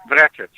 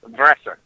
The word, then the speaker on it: Vrecic: How do you say it, Rick? Proper way or English way? The proper way. Vrecic. The Really? English way. Vrecic.